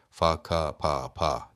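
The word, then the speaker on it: whakapapa: Mesela vakap yani soy ağacı anlamına gelen maori kelimesi fa pa diye okunuyor.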